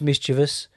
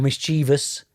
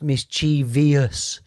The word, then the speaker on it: mischievous: yes because it's pronounced mischievous or mischievous but it's definitely not pronounced mischievous yes there is no I there yes I'm being a